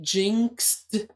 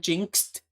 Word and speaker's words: jinxed: jinx jinx jinx honestly the word is technically jinxed with a D sound at the end jinxed but I feel like